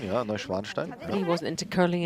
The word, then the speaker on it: Neuschwanstein: Neuschwanstein, yeah, Neuschwanstein.